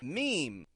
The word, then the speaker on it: meme: will often say it like that M however meme is the proper pronunciation another type of post that you will